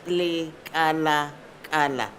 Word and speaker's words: Lekalakala: As long as you pronounce that slowly, you'll get it right. Le kala kala.